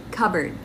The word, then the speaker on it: cupboard: Cupboard. Silent P, cupboard.